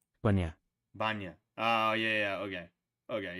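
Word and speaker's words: bainne: Bana. Banya.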